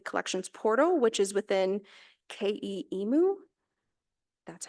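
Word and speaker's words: KE EMu: of their online collections portal which is within K emu that's how you pronounce it um that they these updates to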